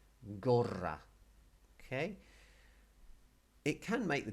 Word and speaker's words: gorra: And if you can roll your R's, when you see a double R in a Spanish word, it's an invitation to R, gorra.